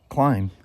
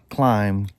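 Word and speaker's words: Klim: But it's amazing how many motorcycle people pronounce Climb Clim. Yep. Because it doesn't have an E on it, so they just think it's Clim.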